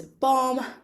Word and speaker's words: bomb: middle of the word, you know that the B is silent and we don't pronounce it.